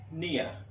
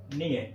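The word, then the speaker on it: near: ये हो गया नियर। क्या हो गया? नियर इट इज नॉट नियर इट इज निय।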